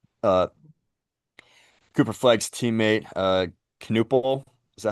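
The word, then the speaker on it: Knueppel: Uh Cooper Flag's teammate uh Canal, is that how you say his name? Canal.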